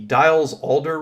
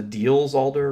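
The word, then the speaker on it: Diels–Alder: to look at is called the dials alder reaction or often mispronounced the diels alder reaction and in the dials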